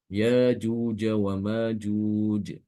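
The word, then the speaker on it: ياجوج وماجوج: ya ynya fathah sehingga huruf hamzahnya itu diganti dengan alif ya karena sesuai dengan huruf ee yang sebelumnya itu harakatnya fathah sehingga nanti untuk bacaan Ibnu Katsir bacanya yaajuja wa Majuj ya Ini surat alkahfi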